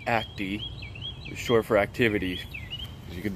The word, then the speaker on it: Acty: act the attack so it's pronounced attack and it's pronounced Act II sure for activities you